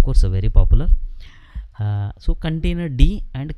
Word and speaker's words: containerd: So cri-containerd nobody will pronounce, but container D.